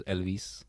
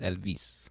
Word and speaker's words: Elvis: But also, like in Spanish, the way you pronounce Elvis is Elvis. You emphasize the vis, Elvis.